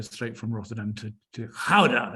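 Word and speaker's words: Gouda: from Rotterdam to to howda as it's pronounced in Netherlands and when you get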